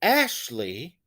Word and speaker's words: Ashley: Now, when I say Ashley, Ashley, I do emphasize or I do stress the first syllable.